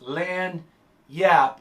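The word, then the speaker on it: lagniappe: get that one word is lanya pronounce lan yap it's a creole word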